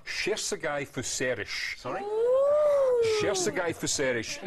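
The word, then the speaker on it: Cserszegi Fűszeres: This is the Hilltop Estate, and it's pronounced Sherzegai Fuserish.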